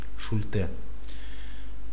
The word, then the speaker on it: Шульте: Вообще в классической методике Шульте их 5, Шульте, если правильно, ударение на последнее Е, но прошу прощения, как тут у меня все не получается, Шульте или Шульте, правильно, Шульте.